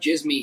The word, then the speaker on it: Djismie: You can follow Djismie, by the way, at Erik Van Djismie. That's Eric with a K and Djismie with a D. Yeah, and the D is silent.